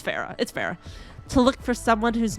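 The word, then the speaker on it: Pharah: Faria? It's Farah.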